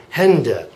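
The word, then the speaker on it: Hände: I would put an uml over the A and then add an e at the end of it and it would sound like Hender Hender so I suppose if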